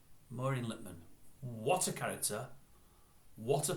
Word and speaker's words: Maureen Lipman: it I really am forgetting it I'm not pronouncing your voice properly there it's Maureen Littman Maureen littmann what a character what a power in the